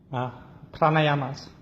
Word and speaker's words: Pranayamas: Again, it's how do you pronounce what she'll be doing? Pranayamas.